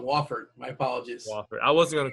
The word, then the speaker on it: Wofford: happy about it yeah I said it wrong Wofford my apologies I wasn't gonna correct you who